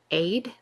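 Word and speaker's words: עֵד: In the Hebrew, it is aid, like AYD or ADE, pronounced that way anyway.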